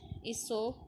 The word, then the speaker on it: Aesop: Aesop, pronounced Aesop, lived in Greece many hundreds of years ago.